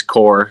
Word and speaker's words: Coeur: d'alene sure um well a lot of people probably see the name and don't know how to pronounce it but it is core like coors light got it um so